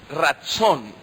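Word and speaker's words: רצון: Es una palabra hebrea que se pronuncia así. Ratzón, ¿verdad?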